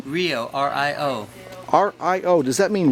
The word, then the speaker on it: Rio: Would you spell it? Yeah. And what's your last name? Rio, Rio.